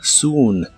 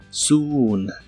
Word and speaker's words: soon: Y usaremos la palabra soon, que significa pronto. La doble O se pronuncia como una U larga o doble. Soon, soon.